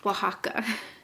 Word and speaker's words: Oaxaca: like the first couple lines it's oaxaca is pronounced oaxaca is spelled out originally the hotel where we